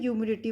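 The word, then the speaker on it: humidity: और एक बात तो, इसको आप ह्यूमिडिटी इसलिए बोलते हैं क्योंकि इसमें एच होता है, वो साइलेंट होता है। ठीक है, जैसे ह्यूमन्स होगा, एच ह्यूमन्स होता है ना, HUMAN इंसान बोलते हैं जिसको, ठीक है, उसमें एच साइलेंट होगा क्योंकि वो यू के साथ कंबाइन है, तो यू से स्टार्ट करते हैं, ह्यूमिडिटी बोलते हैं इसको।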